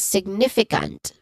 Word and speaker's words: significant: Next content word is significant. Significant. There's four distinct sounds that is made here. Significant. It starts with sig which is its you know stressed syllable in the word.